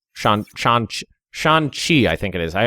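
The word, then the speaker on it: Shanxi: Shan Z Shan Shan Shan chi I think it is I I always pronounce the the X like a z but I think it's more pronounced like a CH and artillery strength so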